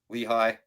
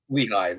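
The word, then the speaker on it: Lehigh: So they lost to uh I believe it's pronounced Lehi. Lehi. Oh, Lehi. Yeah. Lehi.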